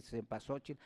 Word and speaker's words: cempasúchil: tiempo se pasó chico se pronuncia de varias maneras se olviden se pasó che depende de la región donde se hable pero es flor 20